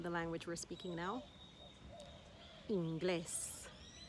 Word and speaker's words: inglés: Inglés. Inglés. The emphasis is on the last syllable because that's where the E is. Inglés.